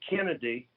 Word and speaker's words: Canada: is that when the Canada family were traveling across the Appalachian Mountains the joke is that at that time they kind of pronounced it Kennedy and it looks like